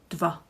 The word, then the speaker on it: dva: So I know it could be a bit tricky, but try to merge the dva into one syllable. Dva.